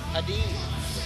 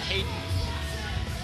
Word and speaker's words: Heden: Heden, not Hayden.